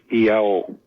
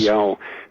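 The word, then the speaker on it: Iao: Uh the Polynesians have a have a word, a sacred word which is spelled I AO. Yao. Yes. Yao.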